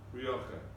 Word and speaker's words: Rioja: How do you pronounce that wine? Rioja.